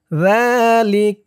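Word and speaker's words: ذلك: একালিফটান খারা জবর যালিক এই চিহ্ন হতে অক্ফ করার কারণে কাফের উপরে জবরটা সাকিন হয়ে গেছে উচ্চারণ হয়েছে যালিক আজলি যালিক মিন আজলি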